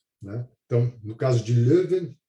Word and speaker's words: Leuven: que é Louvain também, mas é o Louvain holandês, então é Leuven. Tá? Apenas a forma como se escreve é um pouquinho diferente, a pronúncia também.